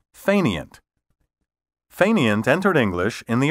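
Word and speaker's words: fainéant: a current dictionary you may find the french pronunciation fenaya listed first or even listed alone frankly i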